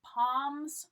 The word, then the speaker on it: palms: routine okay make your palms sweat make your palms sweat notice the L in palm is silent we don't pronounce it